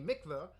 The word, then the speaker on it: mikvah: the 770 Chabad headquarters so Mikvah or Mikvah whatever the pronunciation is I'm not Jewish obviously actually says pronounced mikva so I was right in the first one